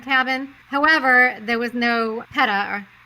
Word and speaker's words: PETA: However, there was no PETA, or how do you say that? PETA? Horrible. It's PETA.